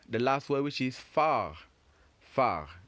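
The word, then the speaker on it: phare: And finally, we have the last word, which is far. Far. Remember, we said far, not far. Far. You end the pronunciation with the R.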